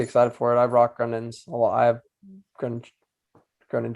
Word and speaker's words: Grundens: Grundens, yeah, Grundens is making they're making some inroads in the fly fishing industry.